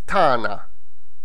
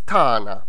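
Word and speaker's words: tagħna: Where's the H? It's again just a single ein. There is no akka in there. So we go back to the original pronunciation, meaning gh, the ein, elongates a. So it's tana.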